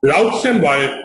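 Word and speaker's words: Roux-en-Y: We write it Roux and Y, but we pronounce it Roux and Y.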